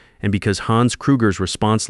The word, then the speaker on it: Krueger: He mispronounced Hans's name, Krager instead of Kruger, called him Herr instead of Chairman Kruger the way Hans preferred in English.